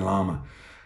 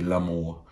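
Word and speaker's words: Larmour: the squad is uh Jordan llama uh I'm not going to say Lam more which I use some of the commentators pronounce his name as but um he is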